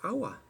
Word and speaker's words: agua: I do know that although the word for water is spelled aqua like in Latin, it's pronounced agua, like hour by hour.